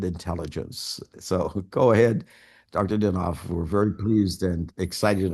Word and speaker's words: Dinov: Am I pronouncing that correctly? Yeah, Dinov, yeah.